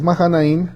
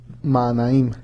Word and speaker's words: Mahanaim: de Aquel lugar manam tiene H aquí en en en español no tiene la H pronunciación y cómo es mahanaim Pero es maanaim en en español Bueno